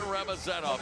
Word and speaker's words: Ramazanov: And I promise the Punisher's family that we'll figure out where to put the syllables in his last name the next time he fights. Ramazan Ramazanov. Yeah, Ramazan Ramazanov.